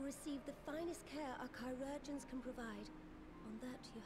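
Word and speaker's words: chirurgeon: the finest care our chirogens can provide on that you have my word chirogen that's how you pronounce it chi so like greek letter urgent like surgeon now we will share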